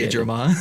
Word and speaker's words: Megidramon: just pronounced it incorrectly, even though we spelled Said it correctly. Megidramon. Yeah, whatever.